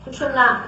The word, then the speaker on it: सुषुम्ना: कोई सुषुम्ना कहते हैं, कोई सुषुम्ना कहते हैं, तरह तरह के इसके प्रोनाउंसिएशन है, लेकिन सुषुम्ना इसका सही माने में प्रोनाउंसिएशन है, जो कि आप मंत्र में भी उच्चारण कर सकते हैं।